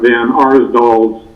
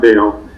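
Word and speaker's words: Van Arsdale: have been mispronouncing Sheriff Van Arsdal's name, so my apologies, Sheriff. I realized I did that, and so wanted to clarify that for everybody. Sheriff Van Arsdal, not Dale.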